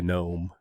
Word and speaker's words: GNOME: an example of a desktop environment or a gnome uh desktop environment it is pronounced that way by the way gnu gnome